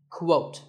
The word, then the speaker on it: quote: next is the word quote this is not pronounced the same as coat the correct way to say it is with a Kuh sound at the beginning quote similarly we have quotation